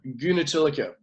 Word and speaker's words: Goonetilleke: part of the interview straightaway how do you pronounce that surname of yours it's a guna tilaka get into the con is it Dutch or